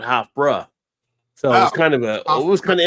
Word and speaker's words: Hofbräu: I never knew what an A sound was supposed to be, but they kept saying Hofbräu, not Hofbräu.